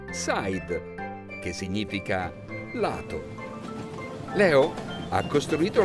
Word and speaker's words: side: i d e in inglese si legge Side significa lato Leo ha